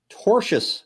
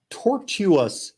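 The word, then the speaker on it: tortious: It's tortuous as in tort, not tortuous as in torture. Thank you, Sarah. Thank you. It's not a tortoise interference. It's a tort.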